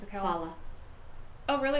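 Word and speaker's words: challah: Hala. Oh, really? It's not challa? It's hala, like the hala bread. It's braided. I never knew it was hala.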